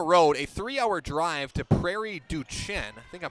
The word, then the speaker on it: Prairie du Chien: Then they're going to go on the road, a 3-hour drive to Prairie du Chien. I think I'm pronouncing that right. Duchesne. Duchesne, thank you.